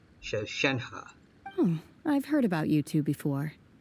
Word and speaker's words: Shenhe: Alright, so I've been pronouncing it wrong the whole time. Shenhe.